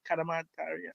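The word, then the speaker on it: Cadamarteri: Would you start the young kid called Bailey Kadamataria? That's how you pronounce it.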